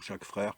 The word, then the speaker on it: Jacques Frère: au compte Twitter de Jacques frère donc chaque frère comme ça se prononce bon vous le trouverez